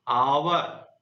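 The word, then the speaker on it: hour: जैसे देखिए आवर, आप इसका उच्चारण करिए।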